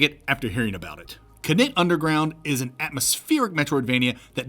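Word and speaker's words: Knytt Underground: First, the game is pronounced Knit Underground. It's a Swedish word from a Swedish developer.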